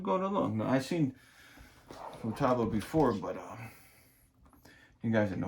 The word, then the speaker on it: Futaba: Hope I pronounce Futaba a little better than I used to. I used to call it Fubuda or something like that.